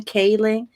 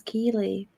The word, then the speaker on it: Keeley: He can't pronounce my name with his New York accent. He calls me Kaylee, like the vegetable. So everybody's keeps reminding Rob how to pronounce Keeley.